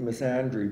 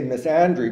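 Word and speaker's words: misandry: also I I some I usually pronounce it missandry because I want to make you know it is the counterpart of misogyny the sex is counterpart of misogyny um I say Miss Andre because I want to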